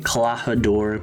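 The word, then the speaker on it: Klahadore: some dude named clahador i'm pronouncing it kalahador because that's the most common way i've seen it pronounced he's this butler guy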